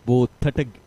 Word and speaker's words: Gotage: Well, I got the name wrong, isn't it? Gotage. Okay. Even I got it wrong. It's Gotage.